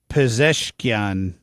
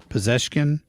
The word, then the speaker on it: Pezeshkian: I'm not quite sure why he didn't have the Ayatollah Khomeini on there, but that was Masoud Pezeshkian. Am I pronouncing that right? Sure. Pezeshkian?